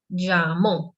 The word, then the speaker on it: llamó: And here, llamó. So the accent is in the last syllable in the second.